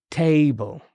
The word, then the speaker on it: table: So table. Okay, so table. Yeah. The stress is in the first syllable, so exactly.